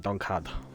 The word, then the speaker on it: Donnchadh: So yeah, that's how you kind of pronounce it. Donnchadh.